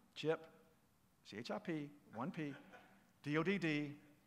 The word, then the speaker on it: Dodd: chip see hrp 1p Dodd rhymes with odd if you take a d out okay chip odd chip Dodd then I want you